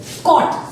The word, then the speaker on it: caught: Caught. So G and H are silent.